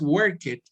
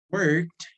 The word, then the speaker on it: worked: No es clean it, no es work it, no es play it, no es wash it, no es cook it. No, se pronuncian como si todos terminaran con T.